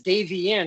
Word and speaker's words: Davienne: you i hate because i have always pronounced it as davey ian and i just i don't know i feel that it's wrong but hey she says it's right it's right all right so